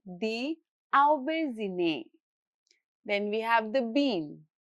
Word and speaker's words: Aubergine: Then, aubergine is borrowed from French. So, the final syllable keeps a soft French style zhe sound as in the English word measure.